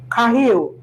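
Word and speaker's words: חיל: Kahil. That's the pronunciation.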